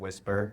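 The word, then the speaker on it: Wispr: So, we recommend a an app, it's called Whisper. It's spelled w i s p r.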